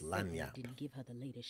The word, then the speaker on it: lagniappe: Google says it's pronounced Lagniappe.